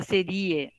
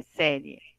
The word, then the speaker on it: série: e o e tá mas senão fica serie não é É série Uruguai é o init